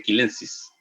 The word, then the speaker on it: chilensis: Y para que no les parezca curioso, yo tenía un profesor que incluso lo que era chilensis se le decía quilensis, ya que esa era la forma correcta de nombrarlo en latín.